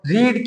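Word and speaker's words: read: रीड की third form रेड। Spelling same है। बस रीड रेड रेड प्रोनाउंस में थोड़ा सा चेंज रहेगा।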